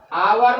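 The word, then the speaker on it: hour: यहाँ पे जिस तरह से ऐसा भी हो सकता है, ही इज आवर लेट, क्या पढ़ रहे हैं? आवर late. एच मेरा साइलेंट है तो क्या लगेगा?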